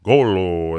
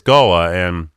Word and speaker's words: Gullah: And most people come in and say that we want to see the Gullah or Golo. They don't know how to pronounce it, but it's Gullah.